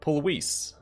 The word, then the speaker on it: Pulvis: Or for his proper Latin, it'd be Pulvis. Because V's in Latin have a W sound.